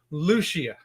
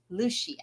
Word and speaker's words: Lucia: is Lu it's pronounced Lucia Lucia Lucia Lucia okay got it Lucia it's pron it's just like it's spelled I should have known that St Lucia like the island yeah yeah we went